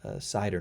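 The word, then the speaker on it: CIDR: uh it's called slider cider no notation class interdomain routing pronounce cider uh so it's the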